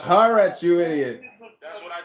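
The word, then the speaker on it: Haaretz: Israeli publication is the news is news it's pronounced haret you idiot that's what I told him haret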